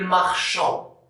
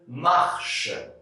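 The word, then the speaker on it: marchent: désenchanté nt1 mais attention il ne faut pas prononcer il marchant non quand on conjugue un verre avec la troisième personne du pluriel en prenant ce pas le et on ne prononce pas ondine il marche non marchand c'est faux vendredi m il marche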